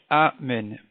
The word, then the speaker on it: Amen: Donc il faut prononcer le Aleph Amen, pas avaler la ponctuation du Aleph, la prononciation du Aleph. Deuxièmement, il faut bien dire le Nun.